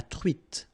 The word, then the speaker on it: truite: nose, nasal, on, espadon, la truite, same thing here, final E not pronounced, t, la truite, le maquereau.